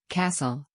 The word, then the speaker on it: castle: waterfall let's begin in the word castle the t is not pronounced let's repeat castle again castle good job